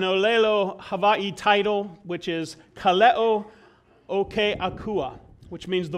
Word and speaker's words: kaleo: We've been talking about this Greek word, kaleo, which in Greek means a calling from God. And then we've been talking about the same word in Hawaiian, spelled the same but pronounced slightly differently, kaleo, which means the voice or the sound.